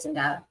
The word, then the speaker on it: Zendaya: Zendava? Okay. So it is the Z sound instead of the S sound?